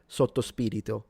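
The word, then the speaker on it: sotto spirito: put it in alcohol, we say stospirito meaning under spirit or in spirit. That's how we pronounce it.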